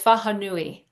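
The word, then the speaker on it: wharenui: mai meeting house now all the wh's are pronounced like an F so it's fahui right so you might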